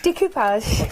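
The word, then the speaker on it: découpage: Decoupage. Decapage. It's the real way to say it actually cuz it's French.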